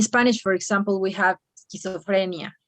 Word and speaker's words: schizophrenia: i didn't heard that since you have the s at the in the first place you have to pronounce schizophrenia like there were no other words here okay schizophrenia but if you find some word with an e before the s you can mention s okay but here in